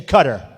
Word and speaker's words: Qatar: the airport in Qatar which they say Qatar I've always said guitar so what the hell